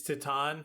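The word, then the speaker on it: Titane: a feeling correction I told David how to pronounce that word so ton yeah it's it's it's TI it's tatan it's tan shut tan T10 T10 T10 well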